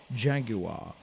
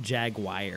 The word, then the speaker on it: Jaguar: Oh, I've also been informed by Grant Hawtrey to point out to Anthony it's pronounced Jaguar. Not Jaguar. Oh, of course.